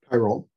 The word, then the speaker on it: pyrrole: kind of maybe, I don't know how to pronounce it, pyrrole red? Pyrrole.